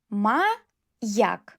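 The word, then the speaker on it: маяк: Ma-yak. Ye plus a.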